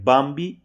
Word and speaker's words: बांबी: जो बांबी बकेट है बांबी इसका उच्चारण दोस्तों याद रखेंगे इसका उच्चारण होगा बांबी ठीक है याद रखेंगे